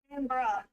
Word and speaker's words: Canberra: Canberra.